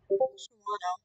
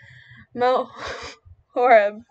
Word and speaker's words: Mount Horeb: And then we have Appleton, and then we have Shimano. I've been informed that it is Mount Horeb.